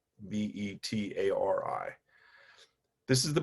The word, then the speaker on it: Betari: And this is what's called the Batari box. Rhymes with Atari, but with a B. Betari. This is the Batari box.